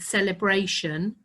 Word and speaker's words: celebration: think about the word celebration, because there are a few words that have that shun sound, but they're not spelt with an S, and celebration is one of them, and direction is the other.